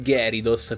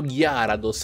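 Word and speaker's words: Gyarados: cento di noi come gary dos perché nell'anime veniva chiamato gary dos poi un giorno mi sono svegliato e ho detto ma veramente c'è scritto gear ados andiamo a vedere il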